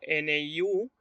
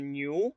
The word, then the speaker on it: niu: O, por ejemplo, NIU, no vamos a leer New, vamos a leer Niu, ¿no?